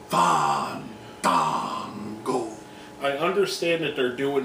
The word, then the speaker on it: Fandango: Fandango. Fandango.